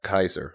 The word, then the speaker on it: Caesar: Caesar was actually pronounced Kaiser, the way that Kaiser. Yeah. The Germans do it. Yeah, with the hard K.